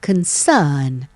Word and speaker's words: concern: คะ concern นะ คะ ถ้า เป็น แบบ อังกฤษ เรา ไม่ ต้อง ออก เสียง ตัว or ตรง กลาง เป็น concern concern นะ ฮะ หรือ Confirm Confirm ก็